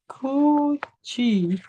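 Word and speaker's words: 굳이: Nah, ini dibacanya itu bukan kudianya menjadi kuci.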